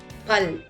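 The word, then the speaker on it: फल: It's a Mahabran letter pronounced as P with a strong puff of air like the P in the word palace. Let us see an example now. Pal which means fruit in English.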